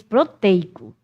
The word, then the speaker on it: proteico: Como a gente diz proteico, não é? A gente não acentua, mas tem gente diz que a pronúncia correta é proteico. Proteína, proteico. Mas a gente diz proteico. A gente fecha.